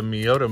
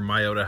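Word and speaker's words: Miyota: pretty nice this is a Miata movement or my Oda however you want to pronounce it it's not a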